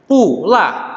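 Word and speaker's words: 不辣: Pula, tidak pedas. Maka menjadi pula.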